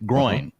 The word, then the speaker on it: groin: But it's coin with a GR in front. So groin.